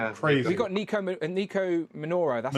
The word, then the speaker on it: Nico Minoru: We got Nico Minoru.